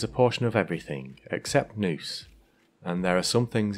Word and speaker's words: nous: In everything, there is a portion of everything, except nous, and there are some things in which there is nous also. Nous is a word that comes up a lot